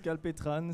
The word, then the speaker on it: Calpetran: C'est juste Calpetran, c'est Calpetran. bien prononcé.